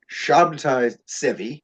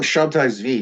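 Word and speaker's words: Sabbatai Zevi: prophecies I think yeah his his name is pronounced in various ways so you you look at it shabti seevi sometimes or shabti Z I'll call him shabti V because it's it's shorter it's easier to say so so shabti V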